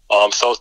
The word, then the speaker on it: Thoth: I mean, the Dahat deck, Thoth deck, as some people pronounce it.